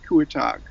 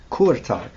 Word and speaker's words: Kurtág: Gyorgy, catch me about pronunciation. Gyorgy Kurtág. Am I close? Yeah, Gyorgy Kurtág. Kurtág.